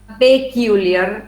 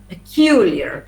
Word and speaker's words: peculiar: something peculiar peculiar okay peculiar it's not peculiar but peculiar because it the pet is unstressed so it was on